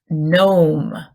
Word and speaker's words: gnome: is this is a gnome known with a silent G okay this animal is